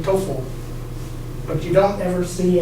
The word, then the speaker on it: TOEFL: as opposed to ESL this is a pronounceable word people say oh I'm taking tofl but you don't ever